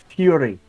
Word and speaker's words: Furry: considering the name uh most people around here pronounce it Fury though with an i instead of a y ah you understand when